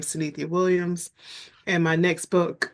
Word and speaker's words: Synithia: welcome to the show and your name is pronounced CIA correct that's correct thank you so much for